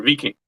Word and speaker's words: Viking: But their economic ideology and their pursuit of conquest is Viking, or Viking, actually, if we want to pronounce it correctly.